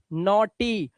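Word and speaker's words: naughty: आ रहा है लेकिन याद रखो जी एच और टी को टोटल आपको सिर्फ ट पढ़ना है जी एच साइलेंट रहता है ध्यान रखना इसीलिए यहां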